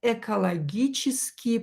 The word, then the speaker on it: экологические: And in the brackets we will write экологические проблемы. Ecological problems, right? Экологические, ударение на букву Е, и, проблемы.